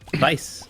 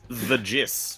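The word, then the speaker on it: Thijs: His name is T H J I S. Vice. Vice. Dude, I was going to I was going to pronounce it like this. The gist.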